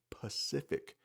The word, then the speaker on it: Pacific: Some native English speakers pronounce this incorrectly and they will say Pacific Ocean, but it does start with a P and it's called the Pacific Ocean.